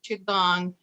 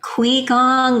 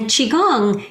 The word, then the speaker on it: qigong: call us in the past they'll say like qui gong they're hesitant because they don't want to say it wrong and qigong if you've ever seen people in the park